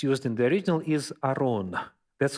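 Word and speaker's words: ארון: So first was an ark, and by the way, the term that's used in the original is aron. That's how it sounds in Hebrew language. The ark is aron.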